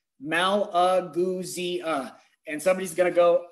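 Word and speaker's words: Malagousia: I'm going to put that little like spelling thing like in the dictionary when they spell it out, and I'm going to put Maul-Uh-Goo-Zia, Malaguzia.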